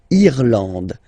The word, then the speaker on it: Irlande: Irlande. Irlande. Okay, A-N, en, D, and final E, not pronounced.